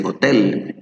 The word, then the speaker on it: hotel: So even in Spanish we say hotel, and the emphasis is in the e, right? Tell. And I tell them that this letter A sounds here more like a jota, like a hotel. So the pronunciation is going to be hotel.